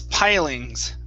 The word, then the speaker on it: pilings: this word right here instead of peeling this is pilings pilings try that pilings okay very good